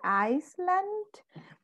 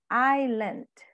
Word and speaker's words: island: So we say Iceland. Then actually the pronunciation is island.